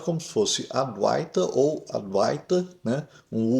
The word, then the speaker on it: Advaita: um U curto que é representado por W aqui e não deve ser pronunciado como aduiter. Aduiter é uma pronúncia totalmente errada do sânscrito. Não existe ei em sânscrito.